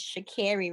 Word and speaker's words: Sha'Carri: well to mr dennis my name is shakiri richardson because he said it wrong but um i definitely